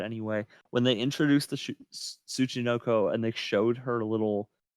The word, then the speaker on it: Tsuchinoko: Sukinoko. I can't pronounce it. God. Tsuchinoko.